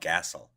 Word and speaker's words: Gassel: Well, I feel exactly the same way you do, and that's why I pronounce it Gassel. That's how it's spelled.